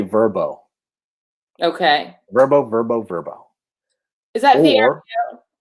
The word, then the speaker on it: VRBO: So you're having a phone conversation and you're having a phone conversation about, let's say, Verbo.